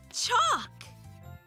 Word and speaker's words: chalk: The letter L is usually silent when it comes before the letter K. Like in talk, or folks, or... chalk.